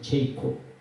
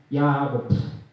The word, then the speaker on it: 야곱: 우리가 잘 알다시피 영어 발음으로는 제이콥, 히브리어 발음은 야곱, 그 다음에 헬라어로는 이스라엘이라는 바로 야곱에 대해서 우리는 잘 알고 있습니다.